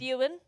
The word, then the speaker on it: Eogan: I think it's Ewan, but it's spelt Wait, did Eogan.